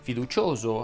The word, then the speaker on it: fiducioso: alcuna eccezione ho delle parole terminanti in usa e uso fa pronunciata chiusa infatti dovresti dire fiducioso afoso erboso caloroso insidioso misterioso roso